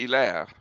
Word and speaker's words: Hilaire: Why do you say Hilary Belloc? Well, because that's the way he pronounced it. Oh. It should be Hilaire, but he lived among Anglos, and you know what they're like. They have a hard time pronouncing real language words.